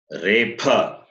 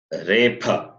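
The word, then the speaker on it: repha: You should say repa. What is that? Repa. It is not rakara, it is repa.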